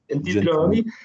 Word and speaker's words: Gentiloni: commissaire européen, alors j'ai peur de mal le prononcer en italien, Gentiloni, on dit comment Gentiloni. Gentiloni, voilà, sur les enjeux évidemment de l'économie européenne suite à la crise Covid et suite aux enjeux environnementaux.